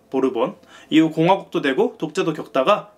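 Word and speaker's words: Borbón: 부르봉의 스페인 발음이죠. 보르본.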